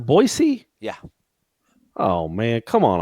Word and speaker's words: Boise: did she smell Boise boy as in boy band and then just the letter C as in Charlie it's pronounced Boise yeah oh man come